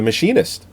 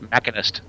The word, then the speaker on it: Machinist: It was Christian Bale for The Machinist. Not only his performance was fucking through the roof. I think that's pronounced Machinist.